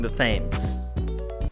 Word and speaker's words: Thames: Just give me a big old shred of Next, we took a stroll along the Thames.